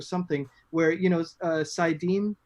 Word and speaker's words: saidin: where you know uh saidin i think is how it's pronounced and is that is that right yeah okay cool i'll take